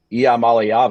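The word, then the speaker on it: Iamaleava: puts up 51 points in their quarterback Nico yam malava I want Jim dunway to hear that so he knows how to pronounce it uh uh throws two interceptions and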